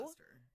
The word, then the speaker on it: Leicester: Leicester? Leicester. It's No. Leicester. Really? Yeah, that Leicestershire. that like 12-letter word? Leicestershire. Oh, Leicester.